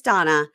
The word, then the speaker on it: Dana: of Donna you guys it's spelled D na a like Dana but it's Donna I also have a